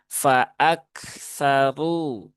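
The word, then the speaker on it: فأكثروا: Dibaca dengan tebal maka yang tepat bukan faaksaru tetapi faaksaru ru ru ru ya.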